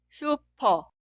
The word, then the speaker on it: 슈퍼: Esta sílaba suena 슈, 슈, 슈. ¿Puedes leer esta palabra? La primera sílaba 슈, 슈. Y la sílaba al lado 퍼, 퍼. Esta palabra suena 슈퍼, 슈퍼, 슈퍼.